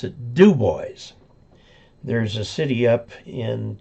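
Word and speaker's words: Dubois: Boys in Wyoming it's spelled dub but they pronounce it duboys there's a city up in Colorado Central Colorado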